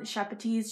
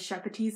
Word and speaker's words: Sepetys: Sepetys, she actually said her name is Sepetys.